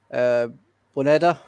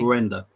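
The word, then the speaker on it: Buendía: Buendia, I'm going to say. Buendia. Yeah, that's the one. Yeah. Buen dia. It's like good day in Spanish. Good buen dia. Good day. Okay, Buendia and the Digne own goal, giving Everton their goal.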